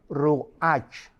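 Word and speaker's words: רוח: La palabra hebrea para espíritu es ruach, pero la CH en hebreo se pronuncia como J, es ruach, como J,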